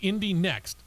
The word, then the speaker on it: Indy NXT: It's now named Indy Next, Indy NXT.